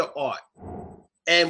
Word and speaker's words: ought to: So for example, we usually use the word to after ought. And we pronounce it oughta. So we usually say oughta.